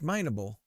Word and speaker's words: mineable: How do you actually pronounce this word? Mineable. It's mineable. It looks like minable.